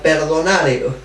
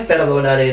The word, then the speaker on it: perdonare: La palabra más donare es una palabra compuesta, perdonare, no es perdonare, no, perdonare, sin acento en la E, perdonare, es un conjunto de dos términos, per y donare.